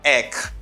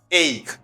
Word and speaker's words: ache: right very often i hear people say uh eck like they say edek okay i hear very often people say eck this x sound is not good it's not good the pronunciation is ache if you say itch it's not the good